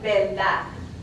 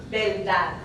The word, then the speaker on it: verdad: Also, we see the R sometimes pronounced as an L. So, verdad, I'm exaggerating a little, verdad, truth, would sound more like verdad, verdad.